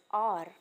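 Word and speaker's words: hour: Here we can see very clearly that in word R the first letter is H and here H is sounding her but the since the word is being pronounced as R. So here H is being sounded as O.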